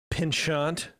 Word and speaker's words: penchant: Jeremy, you know about Disney's penchant, that's how you pronounce it, for rides that like to break down, especially lately.